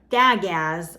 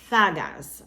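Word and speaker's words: Dagaz: So it's actually gonna have the th sound at the beginning, okay? Instead of duh, it's a th. And then A as in father. So it's not dagas or thegas, it's thagas, okay?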